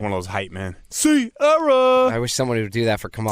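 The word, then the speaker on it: Ciara: Sierra, you got to say it like that Why?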